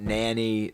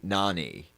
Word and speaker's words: Nani: Also, Nani like amaze, not nanny Nani.